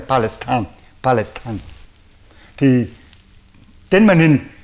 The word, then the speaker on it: Palestine: palestin nhà n Palestine mà chúng tôi đọc là Palestine là theo tiếng Pháp từ trước đến nay ch bây giờ là thưa quý vị nghe theo tiếng Anh là Palestine Palestine thì trên màn